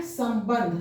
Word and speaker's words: संबंध: चूंकि त थ द ध न, ये इसका पंचमाक्षर न है, इसलिए इस अनुस्वार का उच्चारण न होगा, यहाँ न होगा। इसलिए ये लिखा रहा है संबंध।